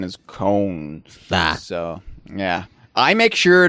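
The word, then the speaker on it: Köln: the English and French pronunciation but the German pronunciation is Con so yeah I make sure to get this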